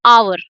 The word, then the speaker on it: hour: So for example, hour. So we do not call it hour, no, we call it hour. So it sounds like it's starting with the vowel or o.